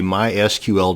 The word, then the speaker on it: MySQL: This video is going to show you how to create a MySQL database. And yes, it's pronounced MySQL, not MySQL.